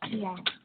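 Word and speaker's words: Piya: And so now I go to the Washington state, and let's see, is it pronounced Pia? Is that right? P-I-Y-A? Yes, it's Pia.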